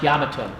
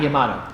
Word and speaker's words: Yamato: By the way, it's pronounced Yamato, not Yamato.